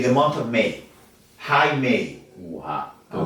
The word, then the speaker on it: Jaime: At Jaime Camil. All of mine are at Jaime Camil. I want to say Jamie Camil because todo el mundo la caga. Cuando digo Jamie, en vez de spell it Jaime, they spell